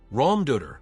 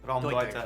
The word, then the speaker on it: Raumdeuter: Raumdeuter, space interpreter.